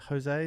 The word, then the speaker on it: Jose: Jose. Is that pronounced right?